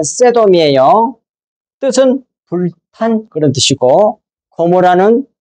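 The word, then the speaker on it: סדום: 어이 말씀 소돔이란 말은 원어대로 발음하면 세돔이에요.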